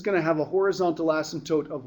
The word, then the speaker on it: asymptote: Okay, so let's talk about an asymptote. Okay, that's how you spell it. It's called an asymptote. Okay, it's not asymptote. Okay, doesn't have 2 S's in it, by the way.